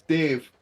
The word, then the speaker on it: Daimh: Scottsdale that scalic photo the Gaelic word for oxen is Dave um this is